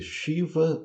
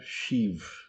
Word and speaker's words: Shiva: No caso, Chiva ou Shiv são duas pronúncias corretas, dependendo do idioma que você está querendo falar. Se você está querendo pronunciar o nome em sânscrito, então é chiva e ganexa.